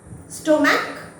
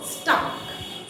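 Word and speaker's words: stomach: স্টোম্যাক, স্টোমাক, দুটোই ভুল। আমরা বলবো স্টাক, স্টাক, স্টাক।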